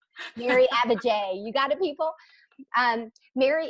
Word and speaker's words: Abbajay: I messed it up abigai today today I would like the band J like the bird Mary Abba J you gotta people and